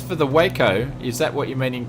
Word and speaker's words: Waco: The Waco rhymes with taco or taco.